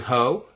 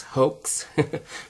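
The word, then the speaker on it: Haux: M21 is close to hoe. H A U X. Some of you probably pronounce this as Hoax.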